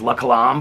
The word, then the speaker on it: La Colombe: people are like, oh, you don't pronounce the E, and so it's La Colombe or whatever.